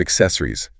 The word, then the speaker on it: accessories: a screen protector and that word accessories remember it has that double C but it sounds like an x i gu exis canes